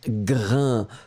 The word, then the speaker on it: grain: Donc, le S final n'est pas prononcé. A-I-N. Ça vous donne le son 1. Et donc, on prononce grain.